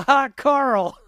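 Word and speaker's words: Hákarl: How about I give you a hot Carl? Th This is how it's spelled. Hak Carl. Oh, it is a L. It looks like Hakari, but it's hot Carl.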